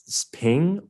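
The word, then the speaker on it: XPeng: brands like neo and i think it's pronounced ping it's xp eng and lee auto are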